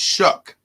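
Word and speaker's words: Shough: unique spelling Charlie is spelled s h o u g h yeah and it's pronounced shuck I don't know what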